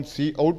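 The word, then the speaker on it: cout: ये चीज है की आउट को हम क्या प्रोनाउंस करते हैं सी ओ यू टी ये जो लिखा हुआ है इसको हम सी आउट प्रोनाउंस करते हैं और उसे फॉर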